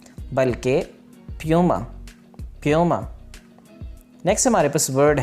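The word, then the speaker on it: Puma: अगला जो हमारे पास ब्रांड नेम है वो है प्यूमा। प्यूमा, ये पुमा लफ्ज़ नहीं है बल्कि प्यूमा, प्यूमा।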